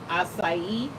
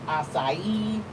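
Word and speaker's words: açaí: out that it's it the C has that little thing under it where it's supposed to be pronounced as an S, but the AI still are the way it's supposed to be, the way it's supposed to sound.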